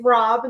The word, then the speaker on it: Rob: And it's Rob, not Rod, is what we were told.